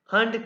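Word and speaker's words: Hand: हंड क्या? ये हंड है, हैंड नहीं, हंड।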